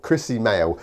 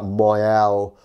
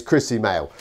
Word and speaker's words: Krissy Moehl: interviewed on a podcast and it is male Chrissy male even though it looks like moyelle Noel it's Chrissy mail I just like the variety in it there's